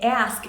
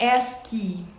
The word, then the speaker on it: ask: Então, ask. Outra coisa, a pronúncia, tá? Não é ask, né? A gente tem a tendência a pôr esse som aí de Y no final de tudo, mas no inglês não.